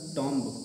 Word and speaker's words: tomb: दूसरा है अगला टॉम्ब, TOMB लिखा ही हुआ है, इसका हो जाएगा टॉम्ब, लेकिन ये गलत है।